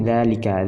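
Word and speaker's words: ذلك: Ketika huruf dza isyarah, isim isyarah berjumpa dengan lam. Nah, seperti dzalika, dzalikuma, dzalikum. Jadi alifnya ini tidak ditulis, dalam pengucapan tetap ada.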